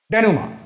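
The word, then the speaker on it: dénouement: और ये सवाल था डेनुमा, इसका प्रोनाउंसिएशन मैंने बताया था, इसका प्रोनाउंसिएशन आपको डेनुमा करना है।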